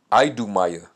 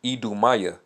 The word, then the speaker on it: Idumea: All right, so Judea is pronounced as Eodiah, Eodiah, and Idumea is pronounced Idumaya. Okay? So Eodiah and Idumaya.